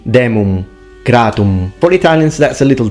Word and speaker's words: demum gratum: He fully pronounces the M, demum gratum. It should be demum gratum.